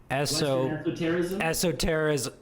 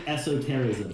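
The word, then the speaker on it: esotericism: got to help me western esso terrorism not terrorist how do you say it western esoterism yes so i was reading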